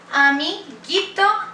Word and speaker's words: amiguito: Amiguito, amiguita. It doesn't sound like amiguito. No, this U is silent.